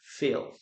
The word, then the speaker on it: fill: As I told you, this is a long vowel. Feel short bower fill.